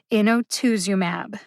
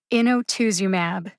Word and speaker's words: inotuzumab: is on twos emphasize twos the most innotuzumab the secondary emphasis is on in as the syllable with the secondary emphasis in gets almost as much emphasis as twos in otus umab hear the syllables when i emphasize them inotusumab where is the